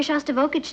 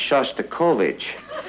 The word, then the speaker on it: Shostakovich: He's taking me to hear Shostakovich tonight. Honey, I think that's pronounced Shostakovich.